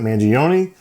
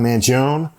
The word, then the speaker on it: Mangione: that's how you um Wikipedia has it mangioni not Manon uh mangion is the pronunciation that they have on there uh I did look